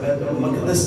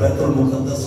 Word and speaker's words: بیت المقدس: بیت المقدس لفظ ہے, بیت المقدس نہیں ہے, بیت المقدس.